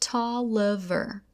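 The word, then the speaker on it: Taliaferro: me the name of Booker Tolliver pronounced Tolliver soon after I was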